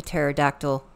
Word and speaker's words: pterodactyl: you cannot hear a pterodactyl P why because the p is silent cute cute ah more